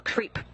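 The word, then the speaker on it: KREEP: they have a weird component that we call creep. And it's spelled K-R-E-E-P, and it stands for potassium, rare earth elements, and phosphor.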